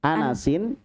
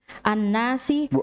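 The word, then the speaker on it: أنسٍ: Anasin. Annasi. Jangan ditasydid.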